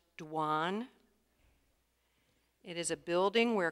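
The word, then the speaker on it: douane: give you the definition before you start it's pronounced dwan it is a building where customs and Duties are paid or collected or where vessels are entered and cleared dwan may I have the language of origin please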